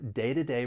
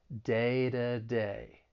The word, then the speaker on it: day-to-day: comes between two vowels I'm going to pronounce it as a flat T so it's going to sound more like a soft D day to day the stress is on